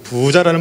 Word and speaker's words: 부자: 이제이 부자 아시죠 부자 부자라는 말 아시는 것처럼이 재물이 많은 사람 돈이 많은 사람들을 우리가 부자라고 얘기를 합니다 이건 길게 발음해야 돼요 따라 하시겠습니까 부자 부자